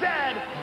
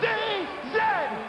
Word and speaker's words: zed: And it is pronounced Zed, not Z-Z.